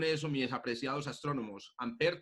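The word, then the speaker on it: Ampère: me deja apreciados astrónomos amper tiene una un acento un acento ya nosotros lo olvidan todas partes porque somos clínicos pero como nosotros somos de origen latino vamos a ir siempre es a ese acento en la segunda y amper con la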